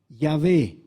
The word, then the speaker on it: Yahvé: utiliza la palabra jehová ahora se sabe que jehová no es la pronunciación correcta que seguramente sería algo diferente porque jehová solamente suena así en español porque hemos transformado la iv en j entonces tendría que ser algo más para parecido a yahvé pero saben que dios